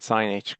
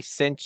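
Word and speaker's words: sinh: do you say that not sin H not C cosine H say them two two ways of saying them anybody remember how to say them hyperbolic uh sign yes okaya thank you it's a hyperbolic sign or the hyperbolic cosine or you could say cinch and Kos but you don't say s h cosine H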